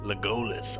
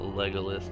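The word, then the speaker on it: Legolas: what a dick legalis legus I never knew how to pronounce it but I heard that it's not legalis like in the probably wrong but I'm just saying what I heard back in another like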